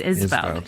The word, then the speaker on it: Esveld: Is it Esveld? Is that right? It's Esveld. Yeah, so pretty much on the money.